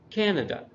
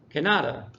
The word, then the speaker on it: Canada: three syllables and it's Canada and Mexico the emphasis is there at the first syllable if we look at the word Canada and we move the the syllable move the emphasis somewhere else it sounds very strange like if I move it to the middle Kanata and if I move it to the end it's a Canada and so something like